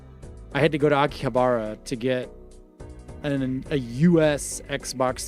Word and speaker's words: Akihabara: And so I had to go to Akihabara to get a US Xbox 360 and some American games at an imported store.